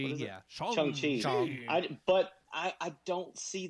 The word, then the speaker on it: Shang-Chi: They said Shang-Chi is going to be the one film that